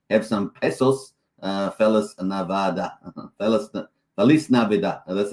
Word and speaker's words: Feliz Navidad: Feliz Navidad.